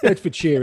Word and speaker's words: Bedfordshire: You can say Bedford, it like that. Bedfordshire is the way we usually say it.